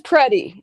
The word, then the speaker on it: Preddy: His name is Preddy. That's how you pronounce his name, Preddy, like a predator.